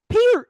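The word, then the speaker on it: Peart: The man himself said that his name is pronounced Peter. That wasn't the argument. The argument was the rock and roll world knows him as Neil Per.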